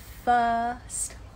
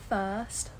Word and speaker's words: first: today's pronunciation challenge her first word her first word did you notice something that's right we don't pronounce the r in british english her first word you